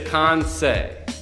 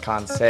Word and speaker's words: Kansei: Correct way to pronounce Kanzai. Yeah, this is a good one. Yes. So it is Kansei. Kansei. Kansei.